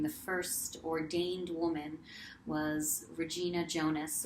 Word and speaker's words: Regina Jonas: first ordained woman was Regina Jonas, or because she was German, probably pronounced Regina Jonas.